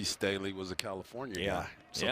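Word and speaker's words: Sthele: Staley is pronounced Staley.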